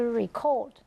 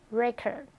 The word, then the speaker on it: record: If you are talking about the verb, you have to say that to record. But if it's a noun, then we pronounce it as a record, 记录.